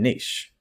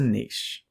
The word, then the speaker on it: niche: resource in the same niche so what is a niche the word whether pronounced niche or niche it comes from the